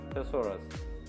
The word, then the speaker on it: thesaurus: using synonyms and thesaurus most of them may not be knowing the pronunciation of this word it's known as thesaurus now what is the